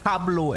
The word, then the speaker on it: hablo: Um, no hablo espanol. Oh, wait. It's no espanol. The h is silent.